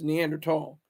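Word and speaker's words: Neanderthal: they are so prehistoric in their value system neander tall and it's pronounced neander tall are more advanced in a lot of ways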